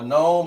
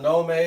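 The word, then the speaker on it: gnomon: A a gnome. A nome or whatever they call it. But it's spelled like this right here. G N O M O N. A nomen.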